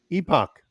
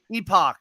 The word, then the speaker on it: Epoch: pronounce that? Epoch. Epoch.